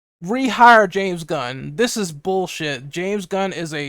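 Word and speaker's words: Gunn: happen in the past someone's name that rhymes with fun his name his his last name is actually gun a James gun that's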